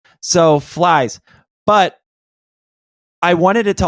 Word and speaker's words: Phylzzz: So to me it's pronounced flies. So flies.